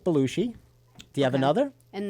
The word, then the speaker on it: Belushi: Belushi. Belushi. I like the way you say it, Belushi. Belushi. Like the whale.